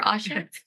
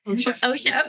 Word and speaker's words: OSHA: So, according to um I always mispronounce this. Is it OSHA, Mary or Asha? OSHA.